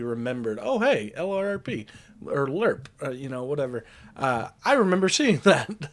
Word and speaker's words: LRRP: of the Long Range Recon Patrol, which is pronounced LERP.